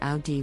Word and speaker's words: Audi: The correct pronunciation is Audi with the emphasis on the first syllable. Many people mispronounce it as Audi.